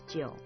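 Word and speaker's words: 九: by the emperor, and 9 in Chinese is jiu, which sounds like the word for longevity.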